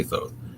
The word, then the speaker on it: Thoth: 36 thousand years bc the writer is stoath or toth i've heard pronounced as well i say though an atlantean priest king